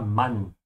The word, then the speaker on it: Mann: Make sure to open your mouth on the A here. Ja, Mann. A.